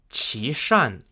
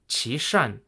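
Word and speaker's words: Qishan: he was replaced with Chan who was an ethnic Mongol nobleman and official Chan is spelled q i s ha n Admiral Elliot was ordered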